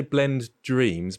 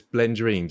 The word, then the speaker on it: Blendreams: Blender artist, short filmmaker, YouTuber, and I keep getting that wrong because I want to say Blend Dreams, but it's Blendreams, isn't it? It's all one word.